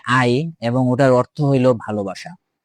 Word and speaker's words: 愛: এই কারণটাই শুধুমাত্র একটা কারণ যার জন্য গারা তার মাথায় সেই ট্যাটুটা করে নিয়েছিল যেটার উচ্চারণ হয় আই এবং ওটার অর্থ হলো ভালোবাসা।